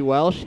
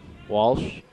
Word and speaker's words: Welsh: Shelby Welsh handling the ball. Walsh. That's what I said. Since when do you pronounce an E as Oh, Walsh?